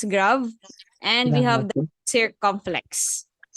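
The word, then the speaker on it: grave: the acute we have the grav okay it's grav and we have the circumflex so when we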